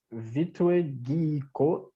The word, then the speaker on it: Vålerenga: And the team was Vålerenga. Yes, you pronounced it right.